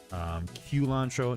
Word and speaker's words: culantro: So, Thai basil leaves, green onions, culantro, not cilantro. Culantro is spelled with C-U-L-A-N-T-R-O.